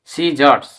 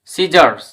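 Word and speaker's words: scissors: তারপরে এস সি I double S ও আর এস সিজারস সিজারস এরকমভাবে এস সি ই এন T send এখানে কিন্তু সি এর উচ্চারণ হচ্ছে না তো আমরা সি এর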